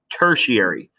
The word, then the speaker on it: tertiary: and we secondary and tertiary that's how you pronounce that tertiary primary is the first eater in a food